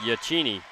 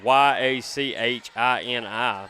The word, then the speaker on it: Yachini: That's y a c h i n i. Haley Yachini. Sounds good. And I'm from the South, so I'm just going to say it like it looks.